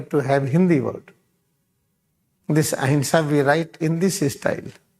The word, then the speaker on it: ahimsa: This ahimsa we write in this style. In this there is a. How you pronounce it? This is the A, this is the Ha, this is the E, this is Sa.